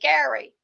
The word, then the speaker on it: Gerry: Although the pronunciation just changed over time, Jerry's name is now pronounced like Gary, but Americans now pronounce the word bearing his name like Jerry.